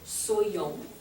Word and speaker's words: soyons: So anywai, so the different forms of être are pronounced soit, and then soit, same pronunciation, soyons, soyez, and then soit again, soit.